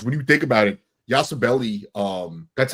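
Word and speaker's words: Yabusele: And I love what Al said about the bench because when you think about it, Yasabelli, um, that's how you pronounce it.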